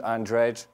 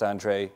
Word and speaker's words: Andrej: It also ends with the confusing J. So it's not Andrej, it's just Andrej, pretended the J is silent.